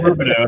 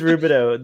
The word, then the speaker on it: Rubidoux: I'm going to say Rubidoux. If I'm wrong, someone let me know. It is Rubidoux.